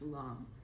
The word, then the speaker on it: lame: This is called a bread long. It's funny because it looks like the word lame. L A M E, but it's pronounced long.